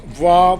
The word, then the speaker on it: vois: So for the subjunctive, it is all pronounced voix, voix, voix, voix, voix.